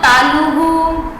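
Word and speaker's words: तालुः: Last में जो भी स्वर होगा ना उसी के जैसे ह बोलना शुरू कर देगा।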